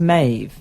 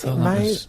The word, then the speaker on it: Meadhbh: It's pronounced Maeve. The BH is a Gaelic V. Maeve. Maeve.